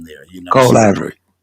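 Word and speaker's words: Colivory: o r y LLC I don't want to butcher the name there you know Cole Ivory Cole Ivory okay but I just want to just kind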